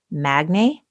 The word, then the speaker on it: Magne: And I'm going to call this guy Magne. His name is spelled Magne.